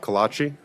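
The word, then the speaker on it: Calatchi: everything sir will you say your name and spell it please Kachi first name r a l p last name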